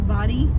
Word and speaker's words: Bodie: Found out that it is pronounced Body by locals, and if you pronounce it Bodie, then they know you're not a local.